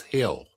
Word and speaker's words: Gil: John Gil or Il G I L. They they pronounced it at the ball game yesterday as Hill.